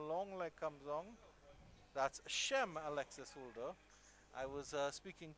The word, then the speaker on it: Chaim: and he corrected me and he said it's Shem. We've been saying Shem. It's actually Shem. And I was actually correct in the Jewish pronunciation of the name would be Chaim. But so we'll go with Shem for now.